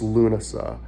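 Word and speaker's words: Lúnasa: to pronounce lunasa in in modern irish it's lunasa in old irish it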